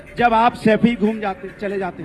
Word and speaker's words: सैफई: आनंद, गरीबी देखनी है ना, तो सफाई में जाके देखिए 500-600 करोड़ जो सैफई तो बोलना सीख जाओ। सफाई नहीं है, सैफई है।